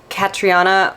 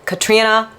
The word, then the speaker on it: Catriona: there was Katrina Ward which I always thought it was catriona Ward but she's like yeah everyone mispronounces my name is Katrina Ward um someone else